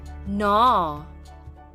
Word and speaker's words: gnaw: Gnaw.